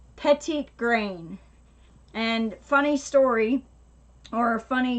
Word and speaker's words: petitgrain: the 15 milliliter so that's how you spell it Josh right there PEGI t gr AI n petite green and funny story or